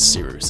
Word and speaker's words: Cyrus: Otherwise, thank you very much for watching, and without further ado, my name is Seeroos. It's spelled like Cyrus, pronounced like Sea Rooster, just take out the turn.